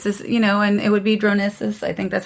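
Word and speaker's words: Dronisos: It's just, and it would be Dronesis.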